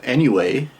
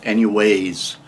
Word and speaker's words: anyway: the first one is anyway anyway well anyway and i've been pronouncing it anyways with an s at the end and that is incorrect so anyways nope can't